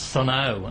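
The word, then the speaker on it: Sunn O))): I said, oh, that's Sunn O. And then I had a listener ringing and he said, the O is silent.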